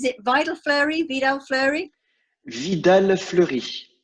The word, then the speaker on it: Vidal Fleury: I never know how to pronounce this. Is it Vidal Fleury? Vidal Fleury? Vidal Fleury. Vidal Fleury.